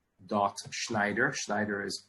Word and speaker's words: Schneider: email address is s dot B dot slider Schneider is pronounced s is the student pronounced Schneider it's spelled SCH n ii i de r